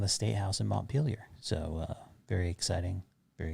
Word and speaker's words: Montpelier: the country montpelier vermont that's how you say it by the way montpelier peelier montpelier montpelier montpelier yeah i'm not gonna go with the super super uh intense french pronunciation of it because there's no need